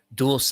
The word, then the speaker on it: Dulce: Dulce is how you pronounce it. Thank you, Nicholas. Nicholas Avila. So Dulce.